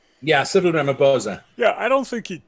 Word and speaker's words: Ramaphosa: Ramaphosa? Is that pronounced correctly? Yeah, Cyril Ramaphosa.